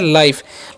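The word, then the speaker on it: life: तो लाई और एफ से फ और लास्ट वाला ई का उच्चारण नहीं करेंगे। ठीक है? तो इसे हम क्या पढ़ते हैं? लाइफ।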